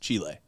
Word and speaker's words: Chile: There is not a long E. It's not an EE or an LLY. It's an ILE, Chile.